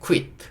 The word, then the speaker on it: quit: 그래서 이거를 퀴트 이렇게 발음하는 경우가 있는데, 이 경우에는 조금 들릴 때 quit, 약간 이 소리를 좀 살려서 여기 하나의 퀴로